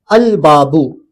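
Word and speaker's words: الباب: अलबाबू अलबाबू अब बाबू नहीं बोलेंगे। अलबाबू बोलेंगे। इसमें लाम प्रोनाउंस होगा।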